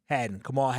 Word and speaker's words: Kamal Hadden: Kamal Hadden. Which one? Kamal Hadden.